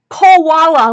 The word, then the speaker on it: Koala: So right down here, it's spelled out for you, because I know it sounds like I'm saying quality, like it's really good quality stuff, which it is, but koala, like the bear.